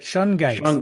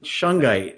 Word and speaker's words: Shungite: know how clearly you can see that, but Shungite. Shungite. I Yes, which pronounced it is, right.